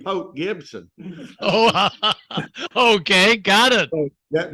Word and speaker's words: Port Gibson: to excuse me Gord I'll have to tell you how to pronounce Port Gibson there's no R in pop Gibson oh okay got it